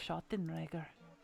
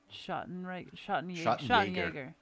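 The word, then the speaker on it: Schattenjäger: You're a Schottenreger. Is that how it's said? Schottenjäger. You're right, yeah.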